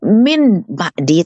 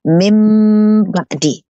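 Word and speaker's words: مِن بَعْدِ: Bukan min ba'di, tapi membacanya memakai proses tajwid namanya mim ba'di.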